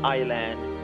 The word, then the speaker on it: island: Letter S is not pronounced before L, like island, isle.